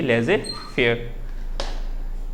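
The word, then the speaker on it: laissez-faire: लेजे फेयर इसको फ्रांस में बोलते हैं, कभी कभी ऐसा भी लिखने मिल जाता है, और इसकी प्रोनाउंसिएशन यही है लेजे फेयर।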